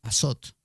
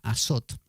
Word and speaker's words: azot: es el símbolo del azot, ¿no? Que suena a azote, pero no. Azot es una palabra que se escribe así, azot, y que tiene